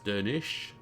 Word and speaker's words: Dernisk: Dernisk is Dernish.